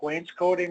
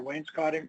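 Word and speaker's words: wainscoting: so it looks like Wayne's coating or Wayne's cotting depending on how you pronounce and then put a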